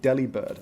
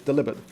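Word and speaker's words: Delibird: delivered's name is pronounced Delhi bird and I'm like obviously it's deliberate because it's a pun on the word delivered so it has to rhyme come on keep up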